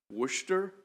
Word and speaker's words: Worcester: how do you pronounce I thought it was just Worcester it's Worcester Worcester Worcester okay good afternoon chairman